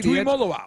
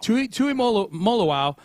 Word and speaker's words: Tuimoloau: And then after that, 2nd round, JT Tuimoloau. Am I pronouncing that right, Johnny? Tuimoloau. Tuimoloau.